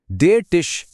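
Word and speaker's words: der Tisch: जैसे यहाँ देर का मतलब है कि टिश यानी मेज एक मैस्कुलिन शब्द है, और इसका उच्चारण है देर टिश।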